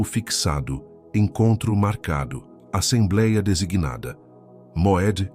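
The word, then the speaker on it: מועד: O nome do encontro que o céu marcou com você é Moed. Pronuncie comigo em voz baixa: Moed não é apenas uma palavra, é um decreto. Significa tempo fixado, encontro marcado, assembleia designada. Moed é a palavra que Deus usa para uma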